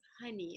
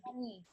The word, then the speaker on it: Honi: And also, the proper pronunciation of my name is Honi. It's Oh, HoniB. honey. So honey, like what you eat.